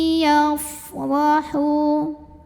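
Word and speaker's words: يفرح: Ra dibunyikan secara tafkhim karena ra-nya berbaris fathah. Maka cara bacanya adalah ditebalkan, pangkal lidah dinaikkan. Yafrahu, hu mad tabi'i karena ada waw sukun yang didahului baris dhammah. Maka cara bacanya ha yang dhammah dipanjangkan 2 harokat.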